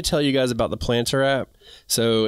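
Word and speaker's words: Plntr: loaded check the link below to get the planter app it's spelled p l n t r and um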